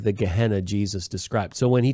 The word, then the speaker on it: Gehenna: Gehenna, which is a Greek pronunciation of a Hebrew word, Gai Ben Hinnom, which